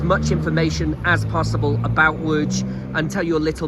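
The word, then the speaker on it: Łódź: down to check out a city called wood it's spelled l o d z and wo is the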